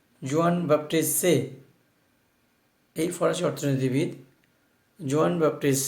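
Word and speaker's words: Jean-Baptiste Say: ফরাসি অর্থনীতিবিদ জোয়ান বাপ্টিস্ট সে, it's a French word, that is a pronunciation should be জোয়ান বাপ্টিস্ট সে।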